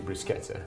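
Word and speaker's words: bruschetta: it's spelled b but CH in Italian is pronounced C so it's it's actually brusketa br Romana which means it's the Roman variety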